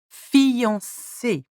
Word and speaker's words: fiancée: For example, une fiancée. C. Okay, here we've got the S soft and the E with an accent aigu.